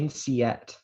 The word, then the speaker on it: winceyette: Winceyette.